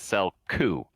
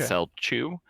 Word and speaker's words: Celchu: it and he says he pronounces it cell coup not cell chu but um yeah and